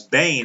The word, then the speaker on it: Behn: I pronounced it Ben in my video. I was wrong. It's Behn.